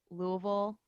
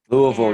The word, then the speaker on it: Louisville: So she taught me how to say and pronounce all the things. Like Louisville is actually Louisville. Louisville, And yeah.